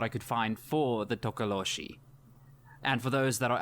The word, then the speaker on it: Tokoloshe: try saying the name you know what a tokoloshi yeah that's actually good good one there you